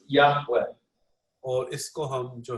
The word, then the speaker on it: Yahweh: give without the Bach and originally it was pronounced Yahweh or is go home to that originally yeah